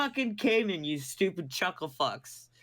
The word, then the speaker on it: Cayman: him kid and you're just like screw off pronounced Cayman c a y m a n no but